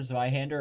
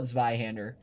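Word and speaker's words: Zweihänder: I call it Zweihander. I know it's a little, I don't know how to like truly pronounce it, but I'd call it the Zweihander. Probably more like ZV than ZW. Zweihander.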